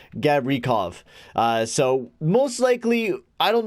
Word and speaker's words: Gavrikov: As I've been saying, Garokovo, very wrong. It's actually Gavrikov, I think it is.